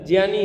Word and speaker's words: ज्ञानी: तो अच्छे कहोगे पर ज्ञानी उच्चारण गलत है ज्ञानी है ऐसे होगा सब जनी ज्ञानी सही ज और य से बना है हा वो गलत है